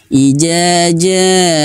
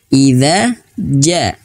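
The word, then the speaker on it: إِذَا جَاءَ: Jangan sampai bacanya ijaja. Nah, tidak. Tapi idza ja.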